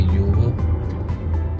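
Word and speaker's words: Yiwu: जो हमें लेके जाएगी युगो वो शुरू व से होता है। प्रोनाउंस ईगो होता है।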